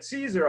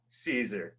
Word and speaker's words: Siser: So this is one question that people ask us at Siser all the time.